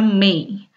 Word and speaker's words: mig: Tulisannya mig dibacanya May.